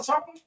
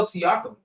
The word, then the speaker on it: Siakam: Isn't that his name? Pascal talking. Pascal Siakam. How do you pronounce his name? Siakam. Oh, Siakam. That's Siakam.